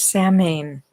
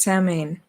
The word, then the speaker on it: Samhain: and this is about salman our sound to rhyme with cow sound uh is the name